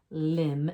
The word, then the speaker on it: limb: But notice in what I want you to see in these 2 words, limb and crumb, that we don't hear that B sound. That B is a silent. It's our ghost letter.